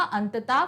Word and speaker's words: अतः: दिया इन्होंने अतः प्रातः अंततः फलता और इस विसर्ग का उच्चारण हा से होता है किस हो जैसे बोलो